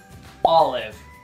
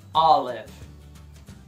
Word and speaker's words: olive: Azeitona em inglês, olive. Sílaba tônica é a primeira. Olive.